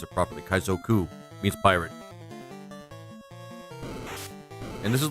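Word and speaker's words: 海賊: I should I should pronounce it properly. Kaizoku means pirate.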